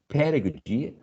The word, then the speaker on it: pedagogy: Pedagogy has the first syllable stressed, pedagogy.